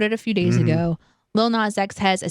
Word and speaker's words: Lil Nas X: We're going to talk about Lil Nas X with Holiday, and I unfortunately pronounced the entire little. It's probably not that. Lil. It's just Lil. Lil Nas X.